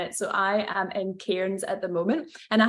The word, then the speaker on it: Cairns: So if Scottish people were to say the word Cairns, they say it like that. But you guys say, how do you say it? Cairns. Cairns. It's like the R doesn't exist.